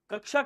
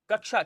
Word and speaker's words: कक्षा: बहुत बढ़िया नेक्स्ट देखो कक्षा का शुद्ध उच्चारण क्या होगा अब देखिए ऐसे समझिए कक्षा छ किससे मिलकर के बनता है वर्णमाला आपने कभी पढ़ी होगी आपको पता होगा का आधा और उसके बाद सा पूरा मतलब आ इसके साथ होता